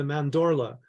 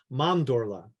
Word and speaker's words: mandorla: all this and he introduced me to the mandorla or if I was Italian and pronounced it correctly mondorla uh which is the intersection of of of